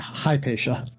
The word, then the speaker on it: Hypatia: Hypatia? Or would you make it sha at the end? Hypatia. Yeah, Hypatia. Hypatia. I hate how some languages are you pronounce the letters in the order they are,